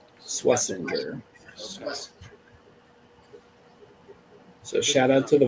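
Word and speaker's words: Schwesinger: He said, "For the sake of clarity, the number 33 pick in the draft pronounces his last name Swissinger." Swissinger.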